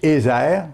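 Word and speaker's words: עזר: français c'est aide mais dans le l'hébreu c'est eer ça s'écrit e Z e r le mot Hébreux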